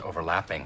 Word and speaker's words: overlapping: Dwight stresses lap because in verbs, especially compound verbs, the high-pitched stress is usually placed on the second half of the word.